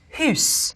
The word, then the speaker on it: house: The word for house would be pronounced hus.